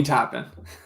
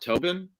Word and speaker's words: Toppin: I say Obi Toppin. I have heard announcers pronounce it Tobin. I've Yeah. always thought it was Toppin too, but I've heard people say Obi Topin.